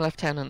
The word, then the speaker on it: lieutenant: I'm saying lieutenant. That's how you say lieutenant in Britain.